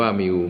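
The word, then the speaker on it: μ: ไอ้ คำ ว่า มิว ตัว นี้ อ่าน ว่า มิว มี ค่า เท่า กับ ค่า เฉลี่ย มี ค่า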